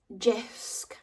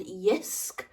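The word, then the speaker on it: Jysk: some new towels from Jisk. Am I saying that right? I think it's called Yisk, but it's with a silent J.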